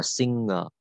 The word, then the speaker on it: singer: Đây mình có singer, mình đọc là singer, đọc chữ ngờ không phải đọc chữ singer đâu nhá. Đọc là ngờ. Không đọc là g, không đọc là singer mà đọc là singer. Nhiều bạn hay đọc sai.